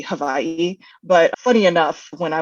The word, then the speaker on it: Hawaii: Japan from Hiroshima to Hawaii and I I know I'm saying it wrong I know it's supposed to be Havi but funny enough when